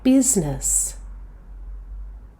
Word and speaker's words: business: This word is pronounced with only two syllables. The second syllable is schwa. Listen carefully. Business. business.